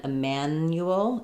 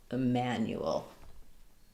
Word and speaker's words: Emanuel: So Samuel and Emanuel is just going to be I man and then the same U. So Samuel, Emanuel.